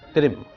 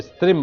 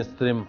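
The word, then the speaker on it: स्त्रीं: इस श्राप का निदान केवल त्रिम को स्त्रिम बनाने पर स्वयं हो जाता है। ओम ह्रीम स्त्रिम हम फट, ओम ह्रीम स्त्रिम हम फट। सा को साइलेंट मत रहिए।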